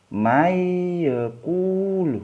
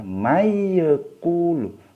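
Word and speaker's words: مَنْ يَقُولُ: tertulis Man yocool Hai nanti ini dibacanya masuk ke iya ya masuk ke ya Mai yocool mayo mayo cool bukan bukan dibaca memanggilku lu bukan ya yang benar karena ini bacaan Idgham Bighunnah dibaca miyoku lu masuk peyek tapi didengungkan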